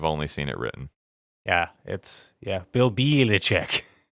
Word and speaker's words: Belichick: Well, it is spelled Belichick, but it is pronounced Belichick. I don't know why. I've only seen it written. Yeah, Bill Belichick.